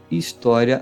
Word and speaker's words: História: Criar a nova história. H no início, som inexistente. O acento faz a sílaba ficar forte, alta, aberta. História. Como esta sílaba é forte, esta sai fraca. História. História.